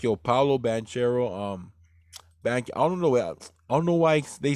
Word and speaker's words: Banchero: It's spelled Banchero, but they say Banchero.